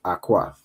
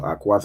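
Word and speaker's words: אחות: And the sister the word sister in Hebrew we have here as awkat right so Aquat is how you'd say sister okay the sister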